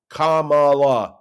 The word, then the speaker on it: Kamala: By the way, they need to learn how to pronounce her name. Kamala Harris.